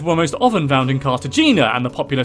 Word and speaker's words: Cartagena: Okay, first of all, that's Cartagena, right? Yeah, Cartagena. Cartagena? Okay. I figured that was another mispronunciation, which I also mispronounced, but yeah, whatever.